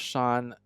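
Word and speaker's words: 山: So it's pronounced shan in everyday Chinese but g this is g here in the uh tauist esoteric language.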